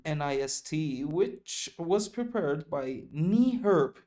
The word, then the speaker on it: NEHRP: which was prepared by NEHRP. اینو در نظر بگیرید، این NEHRP نیست، اینو میخونن اینجوری، انگار میخونید نی، کلمه نی، زانو، هرپ. اینو همه مهندسای آمریکایی که من تو وبینارها دیدم اینجوری تلفظ میکنن، NEHRP Consultants Joint Venture.